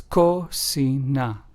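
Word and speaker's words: cocina: word kit for example Kasa which means House in Spanish is pron anounced ASA clo which means clear in Spanish is pronounced as clo and Kina which means kitchen in Spanish is pronounced as coina so as we can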